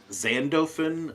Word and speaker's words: Xandophin: Zan. No, Zen. Zen. Yeah, I'll type it in the. I was gonna say, could you spell that, please? I got like Adolf Finso or something. ZENDOFINZORWIN is how I got. Okay. Of course, it's the PH sounding like F.